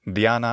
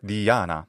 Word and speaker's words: Diana: that's why the initial I is long which is shortened in the ancient authors Diana or Diana the ancient Greek goddess